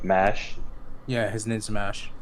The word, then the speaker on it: Mash: Yeah, his name's MASH. Like Okay. MASH.